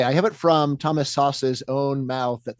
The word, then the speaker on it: Szasz: So by the way, I have it from Thomas Sauce's own mouth that the correct pronunciation is sauce. Sauce. So SZASZ in Hungarian is just like SAS, sauce. Okay.